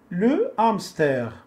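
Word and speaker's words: hamster: يعني اش ما كتنطقش في اللغه الفرنسيه. الا كانت مع السي كنسمعوا اش. نشوفوا دابا هاد الكلمات هادو اللي عندنا هنايا، ان لي مو الو لو نو لو امستر، لو امستر، لو امستر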